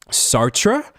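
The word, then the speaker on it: Sartre: Pronunciation. Sartra.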